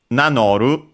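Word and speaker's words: 名乗る: Nanoru, seen above, becomes accented, so be careful, most likely because it's actually a compound verb, and so in that case the accent is on the first syllable, technically, of the second part of the compound.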